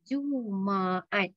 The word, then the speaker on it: Jumaat: Isnin, Selasa, Rabu, Kamis, Jumaat, not Jumaat, yeah, not Jumaat, Jumaat. They have 3 syllables, Sabtu and Ahad.